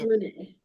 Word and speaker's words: Rena: It's pronounced Renee.